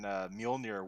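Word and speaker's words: Mjölnir: For the longest time, I thought that the J in Mjolnir wasn't silent.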